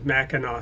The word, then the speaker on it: Mackinac: on mackinac island and the reason mackinac island is spelled with a c at the end mackinac i learned is because the french named it that based on how that's how they would spell mackinac and then mackinaw city was spelled the